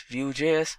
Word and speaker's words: Vue.js: GS is commonly referred to as View and pronounced as vuejs or view is rightly so now